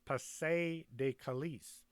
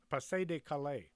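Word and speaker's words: Pas-de-Calais: for the invasions of pase De kalis is it kalei Pasay de Calais I think that's how it's pronounced the real location of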